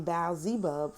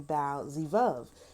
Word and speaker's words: Baal-zebub: In the Septuagint, the Greek translation of the Hebrew Bible, that renders the name Baal-zebub from the Hebrew pronunciation Baal-zevub.